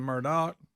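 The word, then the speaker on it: Murdaugh: him one calls him Murdoch one calls him Alex one calls him Alex well I'm looking at this name that name is not Murdoch but that's how they say it that's how they say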